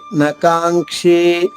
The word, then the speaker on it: నకాంక్షే: ఉచ్చారణ ఇంక అవుతుంది కాబట్టి క్షే లో క ఉంది కాబట్టి ఇక్కడ అనుస్వరం బదులుగా ఇంగ ఏత్వంతో దీర్ఘంగా వచ్చింది నకాంగ్ క్షే నకాంక్షే విజయంగ్ అక్కడ మళ్ల అంగ్